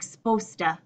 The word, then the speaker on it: supposed to: supposed supposed to and so often it's shortened to sound like sposta sposta I'm supposed to go